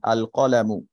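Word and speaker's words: القلم: লাম যুক্ত করতে চাই তাহলে লামটা উচ্চারিত হবে যেমন আল কলামু আল কলামু জাপান আল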